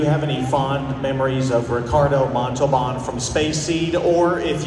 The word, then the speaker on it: Ricardo Montalbán: I wanted to ask if you have any fond memories of Ricardo Montalbán from Space Seed, or if you would just like to sing some of the Rocket Man song.